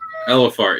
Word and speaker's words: Elephart: Elephart, yeah, like Ellen.